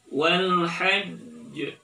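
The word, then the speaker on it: والحج: Cara bacanya wal hajj, lagi wal hajj, sekali lagi wal hajj. Oke, jadi jangan dilepaskan dulu tapi harus ditahan, ya. Jangan dibaca wal hajj tapi tahan dulu wal hajj.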